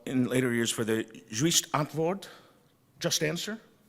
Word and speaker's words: Juiste Antwoord: later years for the Juist Antwoord, Just Answer? Did I pronounce it? Yes. Close. Juiste antwoord.